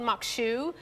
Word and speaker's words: maque choux: amazing oh yeah yeah so this is called Mok shoe and that's how you pronounce it it's spelled a little different they